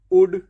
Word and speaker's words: would: आ जाता है तो हम हमेशा एल को साइलेंट रखते हैं। जैसे पहला वर्ड है शुड, तो एल डी शुड, एल डी वुड, WOULD, half L नहीं बोलना है, HALF हाफ, CALF काफ, TALK टॉक।